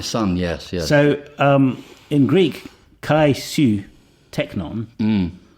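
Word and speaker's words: καὶ σὺ τέκνον: So in Greek, kai su teknon, or perhaps at this stage it would have been pronounced kesu teknon, rather as modern Greeks do, means literally and you son.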